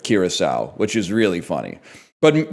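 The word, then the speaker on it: Curaçao: But then he did say Caraco instead of Kiraasau, which is really funny.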